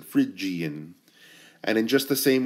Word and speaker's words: Phrygian: looking word okay but think of the word fridge like you go to your fridge to get a snack fridge is how you pronounce a Phrygian and in just the